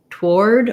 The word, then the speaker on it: toward: most americans including myself use toward where we don't say any o sound so we use the the this is a case where the ar says the o r sound um like the word war and the word war these have the same pronunciation war and um we often say toward toward with basically no vowel there toward i'm going toward